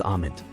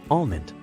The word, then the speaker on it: almond: it is pronounced as amond usually mispronounced as almond the L in Almond is silent in American English it refers to a